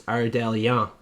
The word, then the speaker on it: Ardelean: And Elise Ardelean is the pick.